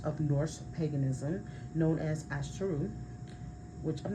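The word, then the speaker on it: Ásatrú: So, some modern practitioners of Norse paganism known as Astaru, which I'm not sure if I'm pronouncing that right. I will spell it. A, S is in Sam. A, T is in Tom Ru. Right.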